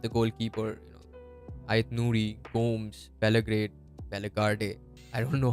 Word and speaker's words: Bellegarde: I thought Belgrade was amazing. I've been pronouncing his name wrong. It's Bellegarde, I think. Sorry for the pronunciation, guys. I've been calling him Belgrade for a long time.